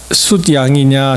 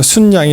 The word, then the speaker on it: 숫양: 이 발음이 저게 숫양이냐 순양이냐 고민을 많이 했는데 한국 그 국립 그 표준 그 언어원에 보시면은 이게 니은이 첨가가 됩니다. 그래서 순양이 맞아요.